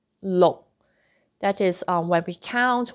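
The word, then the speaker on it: 六: No, no K sound.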